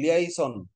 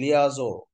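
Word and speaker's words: liaison: লেইসন মানে উচ্চারণটা হবে লিয়াইসন, আসল উচ্চারণ হচ্ছে লিয়াজো, লিয়াজোর মধ্যে একটা চন্দ্রবিন্দু থাকতে পারে।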